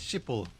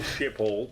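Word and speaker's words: Schiphol: It was a is shipple airport. Yeah, you pronounce it.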